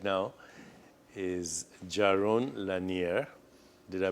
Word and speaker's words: Jaron Lanier: of course and my guest right now is Jaron Lanier did I pronounce your name correctly that was a beautiful